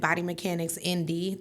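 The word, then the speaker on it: Body Mechanics INDY: And I only spell it because, you know, I got that little accent and it sounds like I'm saying M D sometimes, but it's I N D Y.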